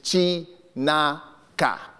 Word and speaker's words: Chinaka: My third name, and this is very traditional, and I'll pronounce it as it's spelled, is Chinaka. Sounds like Kunta Kinte, something really dramatic.